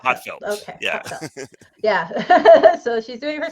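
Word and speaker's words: HA:TFELT: it's supposed to be like a British person saying heartfelt. So it's Ah, Hotfelt. heartfelt. Okay, Yeah. Hotfelt.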